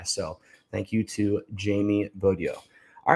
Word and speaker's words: Bogyo: Bogyo. Yeah. It's got that D in there, but it's spelled with a G.